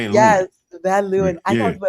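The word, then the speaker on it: Van Leeuwen: I like I recall Vanuin. I like Vanu. Yes. Van Luin. I love how I pronounce.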